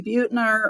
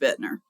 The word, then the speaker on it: Bitner: bner at Dallas college.edu if you say Butner or Butner it's okay but it's really pronounced Bitner and the other way